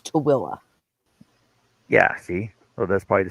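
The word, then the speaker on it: Tooele: Uh, it's spelled T O O E L E and it's Tilla.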